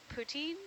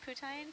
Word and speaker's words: poutine: must be missing eating poutine? Poutine? I'm sorry, I'm American. How do you say it? Poutine. Poutine. I mean, it depends if you ask someone from Quebec.